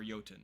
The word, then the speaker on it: Jotun: Her fire arrows revive dead Fire Jotun from their corpses, or Jotun is how you say that, from their corpses.